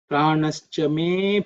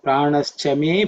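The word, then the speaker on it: प्राणश्च मे: Pranas chame pranas chame. Okay, that's how it comes. Usually though the ah is not pronounced because of something the exists as our great here. So, pranash chame pranash chame that's because something. But actually pranash chame apanash chame you can say.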